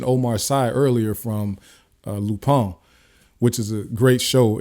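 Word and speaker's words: Lupin: u p i n but it's pronounced lupon it's a French it's a French show but go watch that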